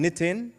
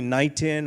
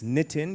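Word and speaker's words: Nitin: means a lot so I'm nittin right don't call me nighan or people have called me nighting gil right like you don't know butchered my name kitten or whatever it's nitten you ask me I'll tell you it's a palindrome n i t i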